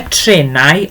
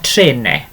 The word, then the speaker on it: trenau: More than one is either trenau or trene. Okay, again, which either way you want to pronounce it, either trenau or trene, doesn't matter which.